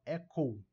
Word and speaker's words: Echo: Próximo aqui, número 10, Echo, Echo, não é Echo, Echo, tá? Por tônica não é, mas lembra de pronunciar o Uzinho aqui, o U no final, ó. Echo.